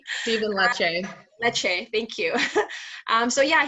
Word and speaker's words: Lecce: Yes, Stephen Leslie, I want to say, I always forget how to pronounce his last name. Stephen Lecce.